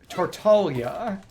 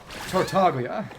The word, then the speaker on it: Tartaglia: Because in Japanese it's Tartaglia, and there is a G there, it's just an exceptionally soft G. But it's still a lot more accurate than how the English version says Tartaglia, with an almost gratingly hard G.